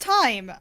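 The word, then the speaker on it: Thyme: it away guys hi it is actually pronounced time uh like the herb if you can imagine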